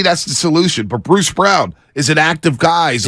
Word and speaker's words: Braun: They say it's spelled Braun, but they call him Brown.